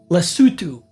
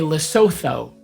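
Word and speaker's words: Lesotho: It's called lutu. And Africans get so mad because most non-Africans say lasso and they're like they can't pronounce the name of our country lutu.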